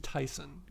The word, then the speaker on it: Tayson: you gotta just like the nickname was given in Spanish so it's pronounced in Spanish yeah yeah it's it's